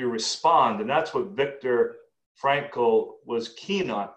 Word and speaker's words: Frankl: For those listening, if you want to Google him later, it's spelled Frankl, a little bit unusual. There's no E in there, as I recall.